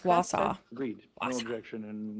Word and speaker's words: Wausau: Pronounced Wausau.